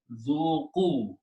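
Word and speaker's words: ذوقوا: Alif is not pronounced. So the word is zuku.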